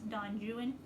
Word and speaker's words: Don Juan: big old chunkster is don juan or as i was by lord byron or as apparently lord byron pronounced it according to my college english class don juan this is an epic